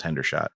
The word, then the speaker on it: Hendershot: Hendershot. Hendershot. That's a weird name. Yeah. No, it was Hendershot.